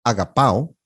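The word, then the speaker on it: ἀγαπάω: La segunda es agapao, y aquí otra vez tiene el acento en la tercera alfa.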